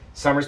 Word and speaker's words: Sommer: have gone over to Summer's page and followed her right over here on Tick Tock summer s-o-m-m-e-r chambless exactly how it sounds it's how it's spelled you'll find her on